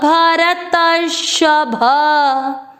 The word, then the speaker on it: भरतर्षभ: श के ऊपर मात्रा आधा र, राइट साइड देखें, आधा र और श पूरा, भर तर, भर तर शभ। चौथा चरण रिपीट, ज्ञानी च भरतर्षभ।